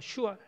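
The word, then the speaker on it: שועל: 이 승냥이는 그 발음이 샤알입니다. 슈알입니다. 슈알, 비슷한 말입니다.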